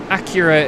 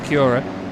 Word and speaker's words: Acura: Acura is the correct way with it being an American brand. That's how the Americans say it. I say Aura, but it's Acura.